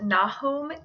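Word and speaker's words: Nahum: that out as well name is typically pronounced na home in rayleigh communities this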